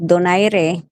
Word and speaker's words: Donaire: Donaire.